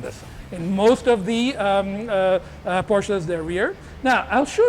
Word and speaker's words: Porsche: In most of the Porsches, they're rear.